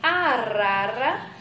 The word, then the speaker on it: arara: Em arara, nós temos um som fraco, que não requer tanta força a nós pronunciarmos, né?